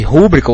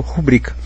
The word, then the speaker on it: rubrica: entende da língua, mas você não sabe se é rúbrica ou rubrica. Aí você pensa, bom, se fosse rúbrica, o autor teria que ter posto acento no u porque seria paroxítona, desculpe, porque seria próparoxítona, mas se ele não pôs, então é porque é paroxítona e eu leio rubrica.